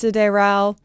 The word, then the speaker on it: Sideral: I believe this is meant to be pronounced Sideral, and while I know that is proper, I'm so sorry French speakers, but me and my